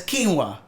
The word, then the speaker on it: quinoa: seeing this it's this it's the word q u i n o a how do you say that you know how to say it though you do no you don't I've never used that word oh no no never it's quinoa quinoa yeah it's the food quinoa okay I've heard it